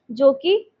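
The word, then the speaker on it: Czech: Poland उसके बाद जेक Republic जेक Republic बोलते हैं पर सी साइलेंट होते हैं।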